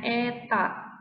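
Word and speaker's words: η: fluida kental yang koefisien viskositas nyaeta ini kita bacanya Eta maka benda tersebut akan mengalami gaya gesekan fluida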